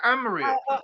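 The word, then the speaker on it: Amrit: you come back again so how do you spell that how do I spell um you say Amit Amit uh so a m r i t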